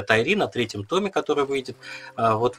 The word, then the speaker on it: Тайрин: riley еще одного отца тайрин ой спасибо большое это важно потому что ударение как бы не ты читаешь да и звучит лучше и сразу ну там